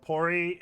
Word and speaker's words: puri: Puris, pronounced pori, is a deep-fried Indian bread.